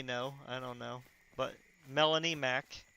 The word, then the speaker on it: Melanie Mac: I don't know, but Melanie Mac. It's spelled how it sounds, except the Mac is M-A-C. So it's Melanie space M-A-C.